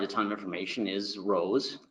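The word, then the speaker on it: RoHS: ton of information is Rose I'm gonna pronounce it rose I've heard Rojas I've heard Rose I'm gonna say rose so it's a restriction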